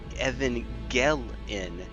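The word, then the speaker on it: Evangeline: oh goodness ah yeah Evan gelin that's how it's pronounced Evan gelin huh is that a is that a creole thing H cuz I don't think that that's how it's that know that's not how it would be pronounced in Continental French H I don't know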